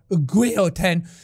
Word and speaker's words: guillotine: The diamond that led a queen to the guillotine. Or guillotine, as the French would pronounce it.